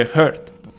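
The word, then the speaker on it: Hurd: Aunque yo las españolizo y digo HURT y HIRT, se deberían de pronunciar igual que HERT.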